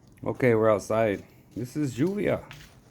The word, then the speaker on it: lluvia: This is lluvia. It's pronounced lluvia, like it's Spanish for rain.